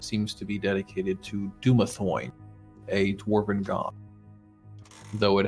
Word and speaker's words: Dumathoin: It's Dumathoin.